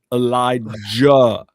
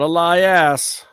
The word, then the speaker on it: Elijah: Say it right. Elijah. Jah. Not Eli ass. We don't know an Eli ass. That's an Eli jah.